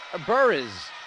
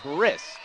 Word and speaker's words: Burris: here to kill e burrows who is checked into the match the check myself there it's Talia Burris Marissa's the correct pronunciation lead is 17 five